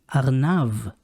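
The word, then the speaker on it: ארנב: second example is arenav the bet in aranav has no dagish as a result it makes the sound of the letter v arnav agnav means a rabbit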